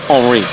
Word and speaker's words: Henri: Henri, I should say, for the French pronunciation.